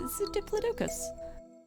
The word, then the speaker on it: Diplodocus: Now, do you say Diplodocus or Diplodocus? Because I heard people say Diplodocus a lot, and I'm like, it's a Diplodocus.